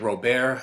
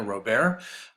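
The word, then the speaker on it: Robert: to Adele Ratignolle and ro-bear Lebrun that's the way you would pronounce his name down in Louisiana ro-bear so this first passage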